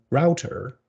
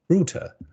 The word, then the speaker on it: router: So some people would say router, and some people would say router.